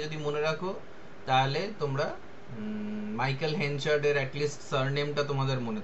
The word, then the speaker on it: Michael: সো মাইকেল বানানটাও তাই, মাইকেল MICHAEL, MICHAEL, অ্যাল, মাইকেল, এরকম মানে উচ্চারণটা হবে আর কি।